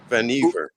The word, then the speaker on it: Vannevar: By the way, David, it rhymes with your favorite word, beaver, Vannevar. Oh, Vannevar, like beaver.